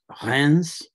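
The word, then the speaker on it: Reims: it always kills me this name uh hans and that is spelled r-e-i-m-s you can also see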